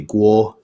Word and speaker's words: Kuo: Um, in the way Jile's system, a K with an apostrophe is pronounced with a hard K, like C, but a K without apostrophe is pronounced voiced like a G. So my last name is actually Gu pronounced with a G.